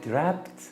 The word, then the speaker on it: wrapped: خلي بالكم كلمة wrapped في W قبليها، ما بتاخدوش بالكم منها، ما بتتنطقش، لكن هي wrapped بتبقى WRAPPED.